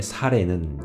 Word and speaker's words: 사래: 이렇게 시작합니다 아브라함의 아내 사례는 출산 하지 못하였고 그래요 우리 보통 사라 라고 얘기 하지 않습니까 아직 이름이 벼락이 전이니까 바뀌기 전 이니까 사례 라고 읽습니다 자 그런데 어 사례가